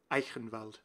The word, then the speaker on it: Eichenwalde: Eichenwalde. It's that particular CH sound.